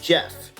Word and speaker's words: Geoff: I thought it was Geoff before, but you guys told me it's actually pronounced Jeff, so that works for me.